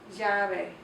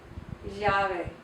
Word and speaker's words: llave: Ella, llave. Llave means key. The ella it's pronounced differently depending on the region. Some regions pronounce it like just a straight Y sound, like we have, yeah, yeah.